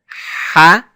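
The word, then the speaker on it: ح: Ha, ha. Now the ha is pronounced by first constricting the throat muscles. That's first. Second is blowing air through the windpipe. So it has a clear sound.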